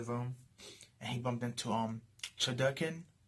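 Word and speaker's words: Chudelkin: and he bumped into Chodokin, or Chudokin, I believe his name is pronounced, Chudokin, which is the Prefect's right-hand man, the second highest administrator, the clown dude, the jester.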